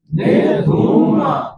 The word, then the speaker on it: धूम: धूम निरम निर धूम धूम कारण यह है कि ध में जो उ की मात्रा है ना वह बड़ी है छोटा उ नहीं है